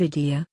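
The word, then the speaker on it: Eidi: In the Middle East it is common to buy new clothes for the Eid, and children often receive idea, pronounced pretty much like idea, which is money.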